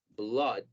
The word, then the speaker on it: blood: sonido asignado, así que va a haber palabras como sangre en inglés que llevan doble O y se pronuncian las dos como O, blood.